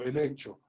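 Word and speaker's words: ἐλέγχω: La palabra utilizada en el griego original, en esta porción de la palabra, es eleccho, así como la pronuncio, eleccho.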